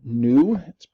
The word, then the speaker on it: nu: by this Greek letter nu spelled and you but it's pronounced like not old but new right okay but it's